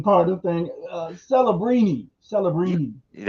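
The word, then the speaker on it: Celebrini: As soon as I seen this one, I I started thinking about the pronunciation part of the thing. Celabbrini. Celibbrini.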